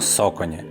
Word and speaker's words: Saucony: Особисто я називаю цей бренд Сауконі, але говорять, що правильно соконі.